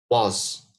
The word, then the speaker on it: was: يعني في pronunciation make sure you make it like an open was, like all. Okay? Like tall.